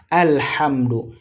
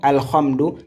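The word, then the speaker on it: الحمد: Et la prononciation de cette lettre, c'est ça qui est très important. C'est léger. C'est tout seulement on refoule on refoulè al hamdou et non alhamdu ni al hamdu. Al, c'est léger hein.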